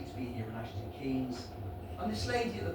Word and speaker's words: Ashton Keynes: from Gloucester, lovely to be here in Ashton Keynes.